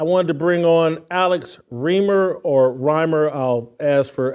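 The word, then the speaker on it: Reimer: me first I appreciate Jason reamer is how you pronounce it reamer so Alex I'll just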